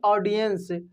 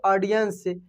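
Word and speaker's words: audience: तो देखिए इसको ओ भी नहीं बोल सकते हैं, आ भी नहीं बोल सकते, क्या बोलेंगे, ऑडियंस, ऑडियंस, समझ रहे हैं ना, ऑडियंस, ऐसे इसको बोलेंगे आप मेरे साथ में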